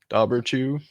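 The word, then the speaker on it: Dobhar-chú: right that's weird well it's spelled uh d-o-h-b-a-r and then Dash c-h-u so Dober two dauberchoo yeah but while I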